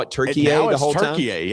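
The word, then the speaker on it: Türkiye: So, are the announcers tonight, are they going to call it Turkiye the whole time? yeah. It's it's no longer Turkey. I guess we've probably been saying it wrong forever.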